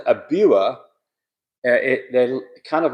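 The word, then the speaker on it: Biewer: Oh, so fast forward says a buer. It they're kind of like a Yorkie and it's pronounced brewers.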